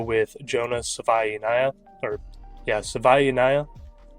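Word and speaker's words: Savaiinaea: At 65 given the board, I'm going to go with Jonas Sava or yeah, Savvaya. Finally got the pronunciation. He said it himself at his combine press. It is Sava.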